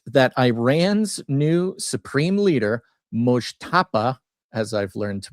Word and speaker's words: Mojtaba: So, anywho, the headline: Trump briefed that Iran's new supreme leader, Mojtaba, as I've learned to pronounce it, Khomeini, is probably gay.